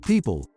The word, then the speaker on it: Pyypl: how does pipel work pipel pronounced people is a digital wallet